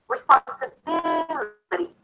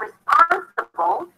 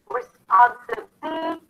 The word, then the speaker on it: responsibility: So no matter where the stress is at the beginning, once you add the suffix, stress falls on the one syllable before the suffix, the one syllable to the left of the suffix.